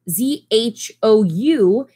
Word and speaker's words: Zhou: this word right here, Z-H-O-U, it is actually pronounced Zhou, like Zhou, the song, you know?